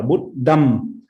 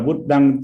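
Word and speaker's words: Buddhaṃ: môi, âm ngậm môi, có nghĩa là có thể đọc là Buddham hoặc là Buddhang.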